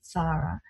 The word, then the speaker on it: Sarah: Some people pronounce it Sarah, but I pronounce it Sarah.